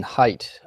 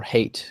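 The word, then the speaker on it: Haidt: do with Biology um Jonathan height or hate as it sometimes pronounced I'm not really sure what the exact pronunciation is but I believe it's height he did some studies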